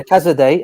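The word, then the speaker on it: Casadei: How do you pronounce his name again? Cazadei. Yeah, Cazadei.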